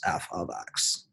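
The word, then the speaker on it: f(x): the f within parenthesis with the x is pronounced f of x now there's nothing special about f could you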